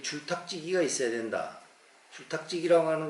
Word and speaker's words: 줄탁지기: 이 줄자라고 하는 것은 우리가 읽을 때는 이거 줄이라고 읽어요. 줄탁. 그런데 한문에서는 이게 최자입니다. 최. 치읓에다가 오하고 애자 쓰는 거. 어린아이 애자 그때 그거 쓰는 거 최자예요.